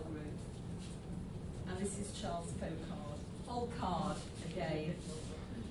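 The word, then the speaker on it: Folkard: And this is Charles Folcard. Folcard, again. You've got to make sure you pronounce the K. Folcard.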